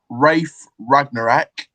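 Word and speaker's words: Ralf Rangnick: I can't remember, but I think three of them is Rafe Ragnarek. That's how it's pronounced.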